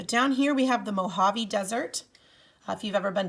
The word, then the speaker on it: Mojave: spanish word and oftentimes the j in spanish is pronounced with an h so it's not mojave it's mohave desert with one s